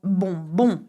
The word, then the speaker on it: bonbon: Except for bonbon. You will notice that bonbon is spelled B-O-N, B-O-N. It's like saying good, good. bon, bon, okay?